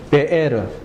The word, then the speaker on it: 베에르: 브엘 라헤 라헤 로이 발음이 이상하게 되어 있는데 베에르 우물이다. 라하이 살아있는 살아계시는 로이 보시는 하나님이다 이 말이에요.